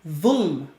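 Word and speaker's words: ظلم: The Arabic term is dhulm. You're going to see it spelled this way many times with a Z. But the pronunciation is like with a TH. Okay?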